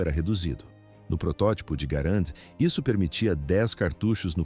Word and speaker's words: Garand: Existe um debate persistente sobre a pronúncia do nome. O correto é Garant, em homenagem ao criador canadense. No entanto, muitos preferem chamar de Grand. Manteremos a pronúncia original Garand para evitar conflitos técnicos.